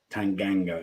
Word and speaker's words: Tanganga: Scott chitty even says is it tanganga or is it Tang ganga it's gang second one G it's ganga yeah Tang ganga yeah it's just me